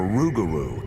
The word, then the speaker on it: rougarou: or even a bird the loup-garou or rougarou as the local Cajuns pronounce it is not a peaceful